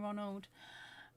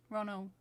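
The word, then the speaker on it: Roald: Okay, so Kathy's saying she's always pronounced it like rolled, not road.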